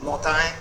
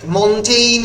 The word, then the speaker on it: Montaigne: অনেকে মতায় উচ্চারণ করে, the French pronunciation is actually মতায়। অনেক মন্টেইন উচ্চারণ করে, MONTIGNE মন্টেইন অনেকে বলে, অনেকে মতায় বলে, যার যেরকম ইচ্ছে।